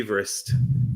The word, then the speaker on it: Everest: Everest was named yeah or Everest that sounds quite fun or or Debs as you'll as you'll learn when you read it it should be eest oh should it yeah that's